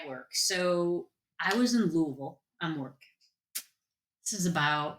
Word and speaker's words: Louisville: how to say it's you got to put that like marbles in your mouth Louisville Louisville they laughed at me I'm like